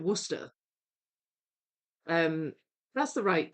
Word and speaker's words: Worcestershire: Yeah, I mean, it says Worcestershire, like the county, but I've always pronounced it Worcester.